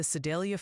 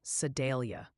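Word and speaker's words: Sedalia: Also, the Sidelia fan club wanted me to tell you it's pronounced more like Sadelia.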